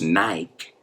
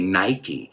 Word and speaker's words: Nike: So this is not like something Nike, que de hecho no lo pronunciamos Nike, we say Nike.